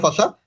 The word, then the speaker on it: fascia: ভাইয়া পাশাটা কি মানে সুপারফিশিয়াল পাশা বা ডিপ আচ্ছা আচ্ছা, ফাসাটা একটু বানানটা লিখি, FASCIA, ফাসা। ঠিক আছে, ফাসা হচ্ছে একটা কানেকটিভ টিস্যু।